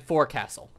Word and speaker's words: forecastle: Like, I know it's spelled forecastle, but I think it's pronounced folks hold. But I've actually heard that both terms are okay. You can say it like folks hold and forecastle. I've heard, like, you can say both ways, and I guess it just, I don't know.